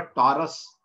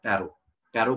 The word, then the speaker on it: Tarot: English में लिखते हैं इसको टैरेट है, लेकिन इसको बोला जाता है टैरो, टैरो card, not टैरेट card, okay. T इसमें साइलेंट रहता है।